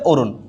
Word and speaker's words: অরুণ: অরুণ অরুণ হয়ে যাবে অরুণ এখানে সবসময় দন্তন্য হবে এখানে কি হবে উচ্চারণে